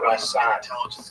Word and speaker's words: Ramban: Rambam is pronounced with the emphasis on the first syllable, Rambam, and Ramban is pronounced with the emphasis on the second syllable. Rambam and Ramban.